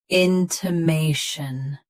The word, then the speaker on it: intimation: Stress may. Keep t soft and shn quick. Intimation.